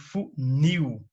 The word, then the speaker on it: funil: Palavras cuja sílaba tônica é a última, né? Por exemplo, funil, parabéns, rapaz. Veja bem, as que têm mais de uma sílaba classificam-se como oxítonas. Olha só, porque a sílaba tônica é a última. Não quer dizer que ela vai ser acentuada. Quer dizer que ela é mais forte.